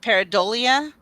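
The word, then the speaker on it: pareidolia: chance all right so I think it's pronounced uh paradolia and it's the tendency to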